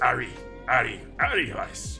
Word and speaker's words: Weiss: Now Eric, we think of that as being Eric, but it was more correctly pronounced Ari Weiss, you see.